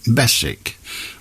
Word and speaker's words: Beswick: my grand my grandmother my grandmother was adamant that my name is pronounced Bess which would spoil the rhyme really ah but you don't pronounce it bwick do you or do you I didn't say she did she pronounced it Bess the W Bess silent all right not right